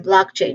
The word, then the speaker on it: blockchain: Um, pronunciation wise, we start with the first syllable, block. This is this part is the main stress. So, there's a short uh vowel sound here, block. And then ending with the letter k sound.